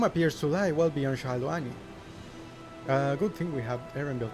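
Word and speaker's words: Shaaloani: I say Shaluani, I think that's how they pronounced it in the... well, what's his name? Not the media tours, the fan fest, but in Japanese they say Shaloni, which is different.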